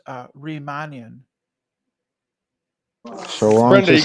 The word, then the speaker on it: Riemannian: So, Nathan, it's pronounced Riemannian.